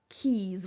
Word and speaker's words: cays: Did you know that the Bahamas has 700 islands and over 2,000 keys? We call them keys. It's spelled C A Y S.